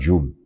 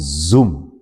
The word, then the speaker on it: Zoom: It's actually not Zoom. It's actually called Zoom. Z with a Z, right?